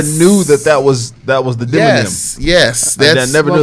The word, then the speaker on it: demonym: I never knew that that was the demonym. Yes. That's, I never knew that. What was that word? Culinarian. Demonym.